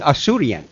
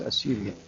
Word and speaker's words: Assyrian: bit imagine because yeah before you corrected me I was saying assurian the reason they don't